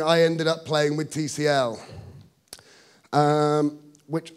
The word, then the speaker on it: Tcl: ended up playing with tcl um which i suspect i'm technically supposed to pronounce tickle but i'm going to keep calling it tcl because i just my